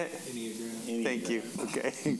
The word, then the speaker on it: Enneagram: Enneagram. Thank you. Okay. There's no O. No O. Enneagram.